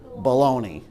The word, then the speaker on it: bologna: Like how you spell it, like how you eat it. Baloney. Yes. That's bologna.